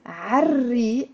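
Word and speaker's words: عالريق: We pronounce it عري, and we don't pronounce this l because re is one of the sun letters as well.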